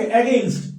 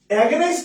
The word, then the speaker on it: against: একটু ওয়ার্ড দেখে, এগেইনস্ট, AGAINST, বিরুদ্ধে। এগেইনস্ট মানে কি? বিরুদ্ধে। তোমরা অনেকে বিরুদ্ধে, তোমরা অনেকে কিন্তু এটা ভুল উচ্চারণ করো। হ্যাঁ বিরুদ্ধে, তোমরা অনেকে এটা ভুল উচ্চারণ করো, অনেকে বলে এটা এগেইনস্ট। এগেইনস্ট না, এগেইনস্ট, এগেইনস্ট, এগেইনস্ট, এগেইনস্ট।